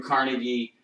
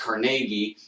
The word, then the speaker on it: Carnegie: This is Andrew Carnegie, or actually pronounced Carnegie, and the steel industry.